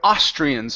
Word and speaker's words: Austrian: go to the word austrians so the the stresses at the beginning okay and we're also